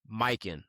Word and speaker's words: Mykyn: We want to show some love to our first ever sponsor, Mykin. That's spelled Mykyn.